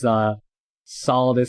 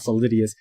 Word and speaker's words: Solidus: By the way, it's pronounced Raiden. Raiden is from Mortal Kombat. Right. Raiden, not Raiden. The same with his Solidus and not Solidius.